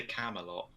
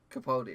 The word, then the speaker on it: Capaldi: I don't know how to pronounce his name. Peter Camelot. Is that Camel. I swear that's not what you said. Capaldi. Capaldi, that's it.